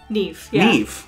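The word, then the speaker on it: Niamh: okay neve again why why isn't the m and h pronounced and where's the v coming from m h makes a v sound weird quiver and never neve yeah irish logic mh sounds like v x done oh boy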